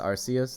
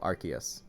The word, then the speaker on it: Arceus: Is it pronounced Arceus? No, Arceus. That Pokemon in Sun and Moon, the type Null who turns into Silvally, his ability is the RKS system. It's a K, so it's Arceus, y'all.